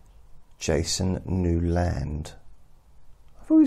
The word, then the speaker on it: Newland: And he pronounces it Newland so that people know how it's spelt. So when they're searching for the website or searching for him, they're not putting Newland in, L-U-N-D.